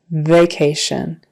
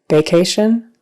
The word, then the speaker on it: vacation: word is vacation vacation don't forget that V at the front some people might be tempted to make that a hard sound like a b vacation make sure that you have your teeth out on your lip V and it vibrates vacation because we can hear